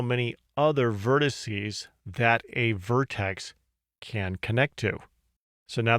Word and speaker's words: vertex: this is called a Vertex or a node the proper way to say it is vertex but you'll hear the